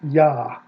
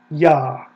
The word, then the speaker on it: Yah: It is ah, a vowel, ah. Okay? If we want to look at it in the Hebrew Bible, Exodus 15:2, right there it is, ya. That is the first syllable of the divine name, ya.